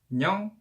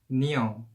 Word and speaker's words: 녕: An is pretty same as each other, but 녕 is different. 녕, which is the right pronunciation, but when it becomes with romanization, it becomes 니영, 니영, which is wrong pronunciation. 녕, 니영. So it's different, and you should say 안녕, not 안녕.